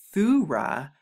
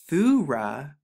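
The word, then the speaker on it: תורה: So when you put it together, you get Thura, Thura. So like we just went over and talked about, thanks means thuda, or pronounced thuda, as we saw in Strong's H8426, and the word Torah, as it's commonly known, is thura, which means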